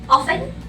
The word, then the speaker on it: often: The third word is often or often, which is both pronunciation are correct, but usually we use often without the T sound.